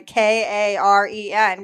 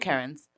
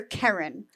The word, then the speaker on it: Kerryn: People don't hear Karen. Yeah. The short E does not register. They decide I said Karen.